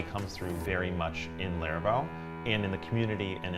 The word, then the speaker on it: Laravel: something like that and I was like what rhymes with that and thought laravel and I was like that sounds like something